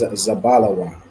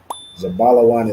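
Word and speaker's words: זבולון: the Hebrew so again you're going to spell it out and okay the correct answer is zabala Wan zabala Wan is Zebulon in thew all right well then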